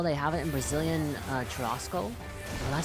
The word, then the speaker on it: churrasco: Oh, churrasco? Oh, churrasco? Is that how you say it? Wait, how do you get the Haas? That's an R. I guess it's Portuguese, right? Churrasco.